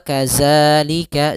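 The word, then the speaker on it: كذلك: Jangan dibaca dengan zai gitu ya. Wa kadzalika zalika. Nah, akan tetapi dia bagaimana menyempurnakan daripada makhraj dari huruf zal, yaitu ujung lidah menempel dengan gigi sari atas. Maka kita bacanya wa kadza za, dan tipis.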